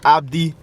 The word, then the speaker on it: ABD: So Yeah, ABD. That pronounces as Abdi.